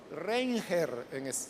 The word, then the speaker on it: Reinhard: Se pronuncia Reinhard, pero es Reinger, así literalmente, ¿no?